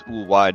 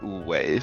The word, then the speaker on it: Ulwai: It is Uwai, not Uwei.